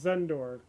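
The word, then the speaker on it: Xendor: Yeah, my my name is uh pronounced Zenor. Uh the X is kind of pronounced like the beginning beginning of Xerxes. So X E N D O R but instead of sound the X pronounced a Z sound.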